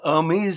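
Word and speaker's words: Hermès: boost their status an Ary belt means h h e r m the H is silent of 70,000 if that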